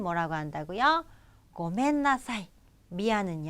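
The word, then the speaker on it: ごめんなさい: 다시 한번 볼까요 자 미안해요 는 뭐라고 한다고요 고멘나사이 미아는 요 버 맨 되겠습니다 자 여러분 요거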